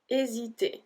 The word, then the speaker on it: hésiter: Hésiter, hésiter. So we don't pronounce the H.